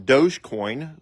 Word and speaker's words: Dogecoin: this uh video on Dogecoin which is spelled D o g so it's spelled like doggy coin but it's pronounced Dogecoin and uh Sheba anuc